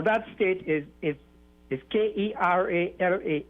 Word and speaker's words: Kerala: india yes now that state is is is k-e-r-a-l-a it's pronounced kerala yeah not not kerala as your news classes